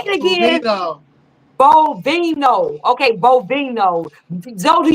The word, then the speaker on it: Bovino: Okay, that because you can't pronounce it. You worse than me. I can't get what's his name? Bovink. Say it again. Bovino.